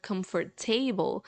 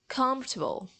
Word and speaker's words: comfortable: have the same problem the letters in the middle the vowels in the middle that we don't pronounce so vegetable comfortable these